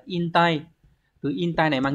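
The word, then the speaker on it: 引退: dẫn và chữ thoái từ này đọc là in tay từ in tay này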